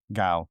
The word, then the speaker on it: Gao: Gao. Yep. Gao, okay.